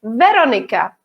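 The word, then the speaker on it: Veronika: We have the stress on the first syllable. So we say Veronica.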